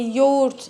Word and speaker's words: yoğurt: Actually, we say yoğurt in Turkish. It's a soft G sound.